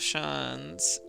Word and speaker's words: Shan: don't have a chance the pronunciation of Shan's is the same as Shan like chance but with an sh at the start got it chance okay